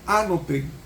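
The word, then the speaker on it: ἄνωθεν: describir el nacimiento es la palabra anoten se pronuncia con acento en la anoten Qué significa anoten anoten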